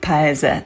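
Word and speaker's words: Paese: najpierw wybrałam się na event wony i uwaga paez Nareszcie wiem jak się wymawia prawidłowo tą firmę nie wiem dlaczego zakłułam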